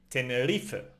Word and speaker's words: Tenerife: So, Tenerife.